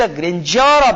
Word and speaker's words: grandeur: तो इसमें यह बताया गया है कि इन द ग्रेंजर ऑफ द बिग, ये शब्द जरा देखना, GRANDEUR, इसका उच्चारण बच्चों आपको यहां पर जय करना पड़ेगा।